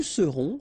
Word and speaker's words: serons: Je serai, tu seras, final S not pronounced, il sera, elle sera, nous serons, final S not pronounced, vous serez, a Z at the end, et serez, ils seront, final T not pronounced, elles seront.